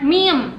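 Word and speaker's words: 미음: Terus ada yang ini namanya meme.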